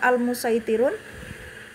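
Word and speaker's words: المصيطرون: ya yaitu pada almusaitirun untuk riwayat Eh satibiyah ini bacaan SH lebih didahulukan Adapun pada thayibatun Nasr dibacanya dengan Sin Nah jadi untuk e riwayat satibiah boleh dibaca Sin boleh dibaca SH tapi SH lebih Uta lebih utama gitu Adapun kalau maaisnya dua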